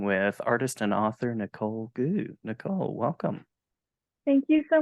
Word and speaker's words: Goux: artist and author Nicole goo Nicole welcome thank you so much for having me a pleasure did I get your last name uh pronounced that's right yeah great job you didn't